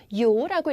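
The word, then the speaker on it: 由: 뭐냐면 중요한 계사 나왔습니다 요라고 읽으시면 돼요 자 요는 여기서 누구누구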